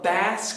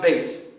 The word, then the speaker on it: bass: seriously it's not the bass clef it's called the bass clef i know it's spelled the same b-a-s-s but it's pronounced bass got it okay anyway